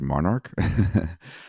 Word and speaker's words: MNRK: of digital marketing for Monarch music group some people know it as as well as I did before this uh mnrk um so if you've seen it around it's actually pronounced Monarch um Kyle thank you